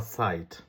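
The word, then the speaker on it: Zeit: যেমন একটা উদাহরণ বলি আপনি যদি বলেন জাইট অথবা সাইট দুইটা শব্দ আলাদা দুইটার মিনিং আলাদা জাইট যদি বানান করেন তাহলে হচ্ছে এস ই আইটি জার্মান ভাষায় মানে এস এটে আর যদি আপনি সাইট বানান করেন তাহলে হবে জেড ই আইটি হ্যা তাইলে সাইট মানে হচ্ছে সময় ইশ হাবে কাইনে সাইট আমার কোন সময় নাই আমি যদি বলি হচ্ছে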